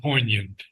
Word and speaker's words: poignant: And last night I heard poant and we do not pronounce the g in the word poignant yet filled with poignant small ignoble things.